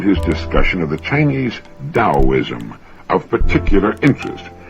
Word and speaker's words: Taoism: I found his discussion of the Chinese Taoism of particular interest. Now, that's spelled Taoism and often mispronounced Taoism.